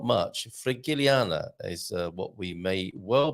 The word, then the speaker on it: Frigiliana: Do you say Frigilanda? Do you say Frigilana? Oh, it's not Landa, it's Frigiliana. Oh, that sounds a little bit better, doesn't it? But not much. Frigiliana is what we may well be learning about from Veronica.